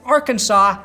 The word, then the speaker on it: Arkansas: legal medical marijuana even Arkansas has legal medical marijuana a state so backwards it has a silent S at the end of its name eight states now allow